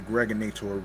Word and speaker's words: Gregonator: This is your man and homie, aka the Gregonator, rhymes with now or later, like the candy.